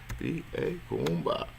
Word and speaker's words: Kuumba: And for those who don't know how to spell it, is KUMKUUIUMBA. Kuumba.